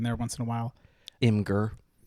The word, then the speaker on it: Imgur: once in a while imer I believe it should be pronounced imer okay but Jordan in like 2015 said it was pronounced imager okay and that pissed